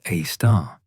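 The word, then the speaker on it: Sagittarius A*: Our galaxy's central black hole, Sagittarius A, pronounced A star, weighs approximately 4 million times our Sun's mass and sits 26,000 light-years from Earth.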